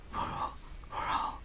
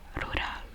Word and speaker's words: rural: So rural, that's the correct pronunciation, but the way I'd pronounce it would be rural, because that's basically how it's like written.